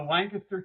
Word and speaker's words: Lancaster: not from Pennsylvania in that area, but the Lancaster County Firemen's Association. Tell me how I said it wrong. Go ahead, correct me. It's the Lancaster County Firemen's Association.